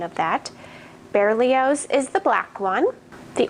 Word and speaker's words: Berlioz: So the black one is Berlioz, if I looked up the correct pronunciation of that. Berlioz is the black one.